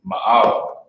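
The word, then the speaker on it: מעל: You got the Ma, the A, and the La. With the singular connector under the Ma, so you pronounce that as Ma, and the plural connector under the A and the La. So you pronounce that as A.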